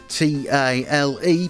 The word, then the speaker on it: tile: It's a tile-based system, yes that's T-I-L-E, people seem to have trouble with my pronunciation of that word for some reason. Tile, like what you have in a bathroom, except not, because that's not a remotely helpful analogy.